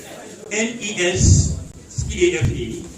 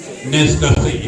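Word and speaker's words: Nescafé: NES CAFE is what? She said what? Nescafe. She said Nescafe. Clap for her. But she did not say it right. We say Nescafe.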